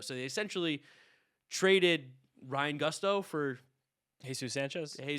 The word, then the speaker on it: Gusto: Gusto.